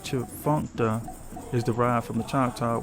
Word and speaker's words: Tchefuncte: The name Tchefuncte, pronounced Chfuncta, is derived from the